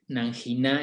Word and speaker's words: Nanguiná: quieren simplemente buscar Nanguiná, recuerden que la G no necesita la U para sonar como G, entonces se escribe Nanguiná, es como se leería en español.